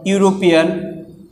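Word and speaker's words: European: এখন এখানে একটু খেয়াল করো, এখানে তো ইউ ছিল, এই কারণে আমরা বুঝলাম যে ইউ আছে, ইউর উচ্চারণ ইউর মতো হলো। কিন্তু এখানে তো আবার ইউ নেই, এখানে কি আছে? ই আছে। তাহলে এখন এটা ই থাকা সত্ত্বেও এটার উচ্চারণ কিসের মতো হয়েছে? ইউর মতো হয়েছে।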